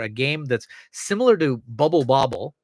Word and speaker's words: Bubble Bobble: game that's similar to Bubble Bobble. See, I said it right this time, not Puzzle Bobble.